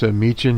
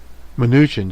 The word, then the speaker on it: Mnuchin: You'll hear from them, from this Mnuchin here, Mnuchin, excuse me, I didn't pronounce his name correctly there.